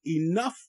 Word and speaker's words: enough: sound I okay and the OU is making the SWAT sound the UF SWAT sound uh uh uh and the GH is making an F sound f- f f f